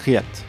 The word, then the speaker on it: Reate: ensemble il s'agit de la marque Riat j'essaie de prononcer à l'américaine fondé par David Ding